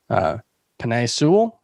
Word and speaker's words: Penei Sewell: Cincinnati's offensive line is likely to be better, especially if, I think they should do the obvious and take Penei Sewell. Is that how you pronounce his name?